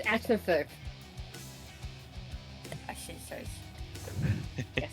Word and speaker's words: action surge: Action charge. You pronounced it wrong. It's action surge.